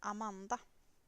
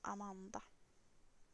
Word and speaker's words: Amanda: I pronounce stuff in English, but it is pronounced Amanda in Swedish. Amanda. So slight difference. You can still hear it's the same name.